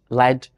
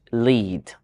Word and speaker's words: lead: depending on its meaning if it is a noun it's pronounced LED if it is a verb it is pronounced lead that is really interesting